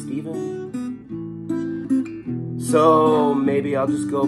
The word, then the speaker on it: Stephen: But there are complications with Steven, because my name is spelled S-T-E-P-H-E-N, and inevitably I'll be called Stefan. And my name is not Stefan, it's Steven.